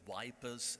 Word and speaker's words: Ieper: Elias, thinking of Ieper or wipers, as the British say, what is to you the value of a symbol like the last post being played every single night there?